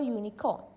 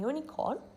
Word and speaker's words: unicorn: like a consonant a unicorn a unit in these two words unit and unicorn even if the starting letter is a vowel its pronunciation comes off like it starts with a consonant for words like bag